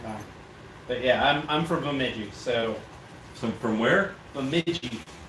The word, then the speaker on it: Bemidji: But yeah, I'm from Bemidji, so So from where? Bemidji. Bemidji. Spell it, I dare you.